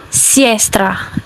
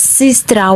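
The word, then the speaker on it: сестра: It is not pronounced as sestra. It's pronounced as sister.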